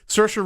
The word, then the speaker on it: Saoirse: I'm pronouncing her name wrong. No, it's actually right. Saoirse.